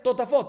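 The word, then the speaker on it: טוטפות: Totafot sin vav, entonces la manera de escribir es tatfot, no totafot, y la manera de pronunciar es totafot.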